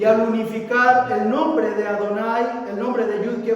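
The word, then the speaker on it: יהוה: Y cada vez que una persona ve en los rezos este nombre, Yud Ke Vav Ke, ¿cómo lo pronuncia? Adonai.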